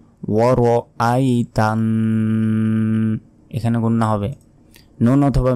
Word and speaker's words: وَرَأَيْتَ: এখানেও আমরা অনেকে ভুল বলি যে ওয়ারাই তান্না। ওয়ারাই যদি বলি, দেখুন ওয়ারাই, তাহলে এই যে মাঝখানে যে আলিফের উপর জবর আছে এর উচ্চারণই কিন্তু আমরা করলাম না, তখন আমাদের গুনাহ হবে। বলতে হবে ওয়ার আই, ওয়া জবর ওয়া, র জবর র, ওয়ার, হামজা ইয়া জবর আই, তানুন জবর তান, ওয়ার আই তান, এখানে গুন্না হবে।